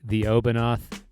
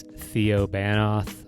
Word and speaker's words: The Obanoth: the obinoth that's right the obinoth is the correct pronunciation of that a lot of people think it's theo banoth or the banister or